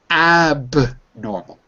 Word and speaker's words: abnormal: Abnormal. Abnormal. Yeah, abnormal. Abnormal. Like that. Abnormal. Abnormal. Good. Can you hear the stress? Abnormal. Abnormal. The second one.